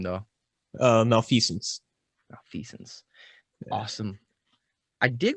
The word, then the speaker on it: Malfeasance: We're sitting here with Malfeasance.